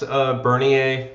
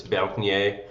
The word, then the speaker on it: Bernier: In the U.S., Bernier is Okay, fine. If you're obnoxious, and in France, it's Bernier.